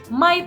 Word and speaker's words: might: Might ini bukan mic ya, bacanya might. Oke, G-nya kita tancap jauh-jauh.